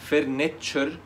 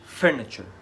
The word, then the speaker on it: furniture: الخطأ هنا إن الكلمة دي فيها أكتر من مقطع، فإحنا في الإنجليش لما يكون الكلمة فيها أكتر من مقطع بيكون في مقطع منهم أعلى من التانيين. يعني ما تقولش الكلمة furniture، ما تنطقش كل المقاطع زي بعضها في العلو الصوت او الزمن، لا، بيكون في مقطع منهم هو اعلى من الباقيين، فهتقولها furniture. المقطع الاول هو اللي عليه الستريس او الضغط ده، furniture، اثاث.